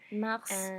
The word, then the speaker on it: mars: Alors, au printemps, mars, avril, May. Mars is one of the few words where we pronounce the final S, so that one you